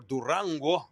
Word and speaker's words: Durango: There were a lot of people that did not want to change Durango or Duranguo, that's how you pronounce it, uh to Cesar Chavez Boulevard years ago.